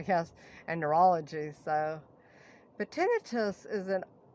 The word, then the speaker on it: tinnitus: want to be um i used to say tinnitus i used to pronounce it the wrong way because i'm deaf um so everybody's telling me it's tinnitus which makes more sense it's like i don't